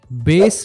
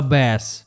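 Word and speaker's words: bass: এটার অর্থ শিষা নেক্সট এবং লাস্ট ওয়ার্ডটা হলো বেস বা ব্যাস বি এ ডবল এস এটার উচ্চারণ যখন বেস তখন এটার অর্থ মিউজিকের বেস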